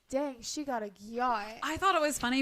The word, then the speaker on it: gyat: And then we have okay, my brother pronounces this gayat, but it's literally gyat, and it just means you have a big butt.